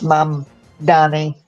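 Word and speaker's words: Mamdani: So, I mean, that's going to sway them towards Mom Donnie. Yeah. That second M really messes with the pronunciation. Yeah, it does, doesn't it? Yeah. You keep wanting to make it an N.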